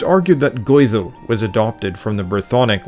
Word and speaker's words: Goidel: Though there were hundreds of tribes and kings, they were all Gaels, pronounced in Old Gaelic, Gaedhil, and they spoke a common language, Gaelic, Gaelga today, for which they held a great love.